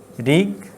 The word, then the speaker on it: ঋগ্বেদ: ঋগ্বেদ। এই থেমে যাচ্ছে ঋগ বেদ, দুই জায়গায় থামছে, এই জন্য এটা এই ঋগের এখানে একটা, বেদের এখানটা, ঋগ বেদ।